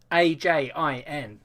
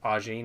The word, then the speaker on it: Ajin: Ajin. Ajin. Yeah, but it's a Japanese pronunciation, mate, so it'd be like Arjin, maybe.